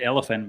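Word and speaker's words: Olyphant: It's just elephant.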